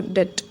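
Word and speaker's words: debt: बी यहाँ पर silent होता है, हम इसको डेट पढ़ते हैं।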